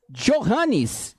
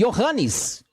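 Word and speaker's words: Johannes: J vem do Alemão neste idioma o J corresponde ao Y exemplo o nome jorranes você não pronuncia iorranes nas línguas germânicas você pronuncia aliás né jorranes que você falaria normalmente olhando para a palavra você vai falar nas línguas germânicas e iohannes porque você vai transformar o jy Ok Isso é claro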